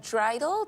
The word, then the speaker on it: dreidel: Can you tell us maybe some more about the traditions, like the story behind the game of dreidel? Did I pronounce that right?